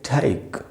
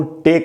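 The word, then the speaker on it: take: कई से बनता है क, तो इसको हम पढ़ेंगे ठैक। ठैक, ये इसका सही उच्चारण, इसको टेक नहीं बोलना चाहिए।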